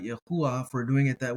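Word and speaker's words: יהוה: It would be something like Yahuwah. Yahuwah, if you wanted to strictly try to pronounce it.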